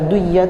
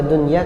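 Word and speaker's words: دنيا: Baca dunya itu sulit. Lebih mudah baca dunya karena memang lafalnya dunya.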